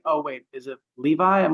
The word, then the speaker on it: Levi: always used to pronounce my name at the very start as Lavi. Oh. My coworker would be like, Lavi? Like, it's Levi. Like, Oh.